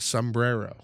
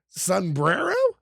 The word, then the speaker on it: sombrero: Sunbrero. Yeah. Is it sum or sun? It's sum. I I mean, I'm pretty sure it's I'm pretty sure it's spelled s u m br something.